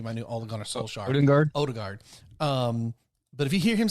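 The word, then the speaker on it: Ødegaard: Odegaard.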